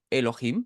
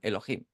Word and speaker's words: Elohim: ve eso sabe que no tiene que leer yjo yovi sino que tienen que leer Elohim y es lo que hacen pronuncian Elohim y la que más nos